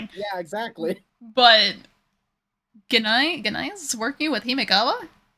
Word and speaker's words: Gennai: Digimon Emperor is Ganai or Janai or Yeah, Janai. However you want to pronounce it. It's It's a G. I don't understand why they say it Janai.